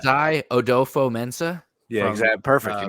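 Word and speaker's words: Kwesi Adofo-Mensah: I'm going with I don't know if I'm pronouncing this right at all. Probably not. Kwesi Odofo-Mensah.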